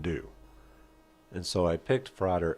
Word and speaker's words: Frater: And the pronunciation of Frater over Freighter, it's not that important. It's tomato tomata. It rhymed with father.